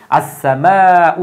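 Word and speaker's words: السماء: তো এই সিনটা সূর্যাক্ষর থাকার কারণে তার পূর্বে আলিফ লাম আসলেও আলিফ লাম উচ্চারণ হবে না, ওই সিনের উপর একটা তাসদিদ চলে আসবে। এই জন্য কিন্তু আসসামাউ হয়েছে।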